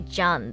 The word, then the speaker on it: Jean: So it's anime, so Japanese pronunciation should be more accurate. Okay, John then. Okay, I will be referring to him as John then.